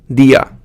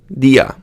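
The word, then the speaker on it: día: One of the common ones you'll see might be dia. Dia. You need to put that emphasis on that first syllable, dia.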